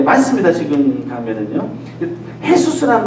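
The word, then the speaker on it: Jesús: 헤수스라는 말 들으셨죠? 헤수스가 스페인 말 아니면 포르투갈 말인데요. 그 J를 H 발음해서 그런 겁니다.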